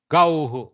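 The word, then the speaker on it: gauḥ: Gauhu. Gauhu. Okay. Gauhu. Thank you, sir. Au, u ends, no? Au ends in u. So gauhu, gauhu, not gauhau, no, gauhu, or gauh, like that.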